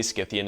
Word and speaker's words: Scythian: But the reason I say Scythian is because I think it's closer to the original pronunciation.